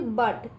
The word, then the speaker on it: but: यू है यहाँ पे साइलेंट, ठीक है। ये यू क्या है? ये वॉविल है ना, AEIOU, ठीक है। उसी में से ये यू एक वॉविल है, ठीक है। अब बच्चों इसका उच्चार कुछ भी नहीं होता है, ठीक है, ये साइलेंट रहता है, ठीक है।